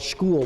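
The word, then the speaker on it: Skhul: has a series deposits it's called school which spelled like towards skull and they actually have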